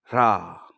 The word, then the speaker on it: HRA: এরপরে আপনারা হৃদয়ে অর্থাৎ হার্ট চক্রে হাত রেখে বলুন হ্রা, হ্রা, হ্রা। HRA তার উচ্চারণ হচ্ছে হ্রা।